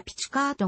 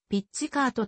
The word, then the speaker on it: ピッチカート: 演奏技法である日本語のカタカナ表記は古くからピチカートが用いられたがより元の言語の発音に近い表記にした場合はピッチカートとなり現在は後者も使われている歴史的に初めて